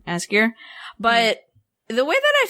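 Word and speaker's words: Ásgeir: I think it's just Asgeir. It's A with a little funny thing on it. Sgeir. Asgeir.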